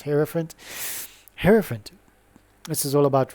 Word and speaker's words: hierophant: I used to say Hierophant, but it's Hierophant.